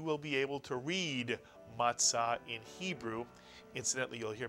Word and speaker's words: matzah: And now using the Tzadee, pronounce the second syllable. Tza is correct. Put the word together and you get matzah, matzah.